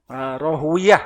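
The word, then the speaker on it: Ishaq ibn Rahawayh: Ada namanya Ishaq ibnu Rahawayh, atau yang betul gimana bacanya ini? Rohwiyah ya, ada begitu ya.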